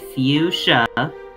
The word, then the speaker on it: fuchsia: native English speaker, It's definitely not fuchsia. fuchsia. It's fuchsia. Trust us, first English speakers. We sadly know this language. It's unfortunate that we know this language, but we do. It's pronounced fuchsia.